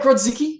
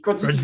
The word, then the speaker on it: Grodzicki: Did I pronounce that correct? Yeah, Grodzicki Grodzicki, usually.